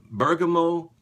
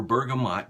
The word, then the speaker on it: bergamot: get the vetiver and Bergamo or bergamot depending on which side of the tracks you're from you can pronounce it either way burgum oh I didn't